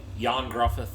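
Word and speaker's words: Ioan Gruffudd: uh it it's uh Welsh so it's not spelled it's not said the same way it's not pronounced as it's spelled it's it's like yon gruth I think is how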